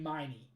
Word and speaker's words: Meeny: Like, I know that the correct way to pronounce that second word would be Miney. But her name has to be Eeny Meeny.